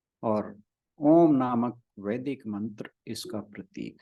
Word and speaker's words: ओम: ध्वनि की उत्पत्ति अ के रूप में होती है, उ के रूप में बनी रहती है, और म के रूप में समाप्त होती है। जब आप ओम का उच्चारण करते हैं तो इसी प्रकार से होता है, शुरुआत अ से होती है और उ के रूप में बनी रहती है, और जो म है वहां पर समाप्त होती है।